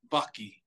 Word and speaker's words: Vaki: up how do you pronounce what's the correct pronunciation of your name Baki there you go now it's on the record